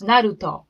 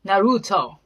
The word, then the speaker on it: Naruto: you want to know how japanese actually pronounce it's naruto because our sound doesn't even exist in japanese so they should spell